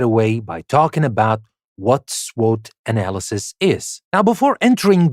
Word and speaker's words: SWOT: we will talk about the SWOT analysis or S SW analysis which is usually pronounced SWOT analysis now we will learn